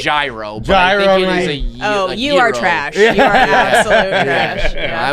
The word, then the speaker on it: gyro: know like a lamb i think it's zero i thought it's like a soft g i i i i i can anybody else in this room confirm it's i would call it gyro oh you are trash